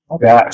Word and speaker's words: Mogash: Mogash. But it's pronounced, you have to clear your throat at the end. It's really how it's pronounced. It's Gaelic.